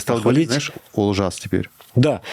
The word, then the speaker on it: Олжас: говорить, знаешь, Олжас теперь. Да, я хочу похвалить Мишу, что он начал все-таки произносить казахское «о» как «о».